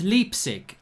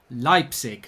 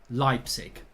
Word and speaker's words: Leipzig: you know that actually even though it looks like it is leapsig it is pronounced leipzig so there's a little bit of german uh town pronunciation lesson for you there it actually is leipzig it's official and there